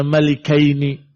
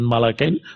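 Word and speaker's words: مَلِكَيْن: Wa kana Abdullah bin Abbas radhiyallahu taala anhu membacanya malikaini. Jadi dua orang raja, ya, bukan malakain, tapi malikain.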